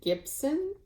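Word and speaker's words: Gypson: um is Mary Gibson I've heard people pronounce this different ways but um Christine of whilst Iris naps I'm pretty sure she pronounced it Gibson um it's g y p s o n for the last name but this is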